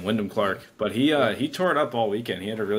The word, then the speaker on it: Wyndham Clark: not been paying attention yeah that's how you pronounce his name Windham Clark but he uh he tore it up all